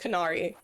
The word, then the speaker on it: Canari: Canari. Kind of like Canary the bird but with a C instead upstairs main hallway.